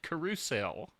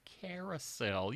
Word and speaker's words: carousel: with english except for the word carousel they pronounce it carusel and they sing it that way and i'm like it's carousel you've you've done so well with every other